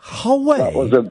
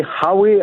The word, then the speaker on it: Howay: Hallway? You actually said hallway? Geordie. Yeah, but does Geordies really say hallway? No, they say Howay, actually.